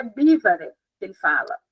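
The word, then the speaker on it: John Bevere: Eu falava John Bever, mas ele não fala, ele fala, eu acho que é Bívar que ele fala, é alguma coisa assim.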